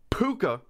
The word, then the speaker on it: Pooka: research oh god yeah it's pronounced puka uh which is the irish word for goblin spirit or sprite it's a